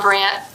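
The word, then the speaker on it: Brandt: it should say Bob brand not Bob not Bob Grant brand yeah b r a n d DT the D is silent okay one time I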